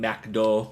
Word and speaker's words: McDo: But if you're talking about stuff like Burger King, McDo, which is how you say McDonald's in France, or Jack and Z